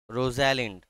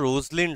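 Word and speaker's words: Rosalind: আমি বললাম আমাদের নায়িকাকে রোজালিন্ড একচুয়ালি উচ্চারণটা যেন রোজলিন্ড হবে উচ্চারণটা রোজালিন্ড নয় উচ্চারণটা বাট বানান মনে রাখার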